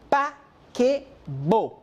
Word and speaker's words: paquebot: La T al final no se pronuncia. Le paquebot.